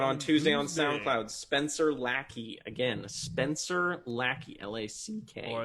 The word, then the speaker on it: Lackey: Spencer Lackey. Again, Spencer Lackey. L-A-C-K. Or as on we SoundCloud. like to pronounce it, Spanger Lucre.